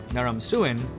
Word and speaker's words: Naram-Sin: life of sargans grandson na Ramzan the last great Akkadian King nah Ronson whose name can also be pronounced Narim suin was already a great